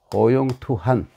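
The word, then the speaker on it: 好勇鬪很: 이렇게 예, 개사슴 녹변에 이 간자로 된 글자들이 많은데, 요럴 때에는 이걸 한이라고 읽습니다. 호용투한.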